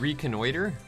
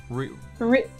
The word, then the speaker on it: reconnoiter: Figure I'd head to I have never heard this word pronounced. Reconnoiter? Reconnoiter. Reconnoiter. Reconnoiter. It's a version of reconnaissance.